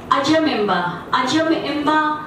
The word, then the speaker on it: अजम एम्बा: अजम ये प्रोनाउंसिएशन है, बहुत लोग बोलते हैं अजम एम्बा, इट्स नॉट अजम एम्बा, इट्स अजम एम्बा, ये कुड़ुक प्रोनाउंसिएशन है जिसका शाब्दिक अर्थ